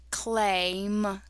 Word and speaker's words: claim: Now we have two vowels, a and I. The A is long, the I is silent. Cool A, claim, claim.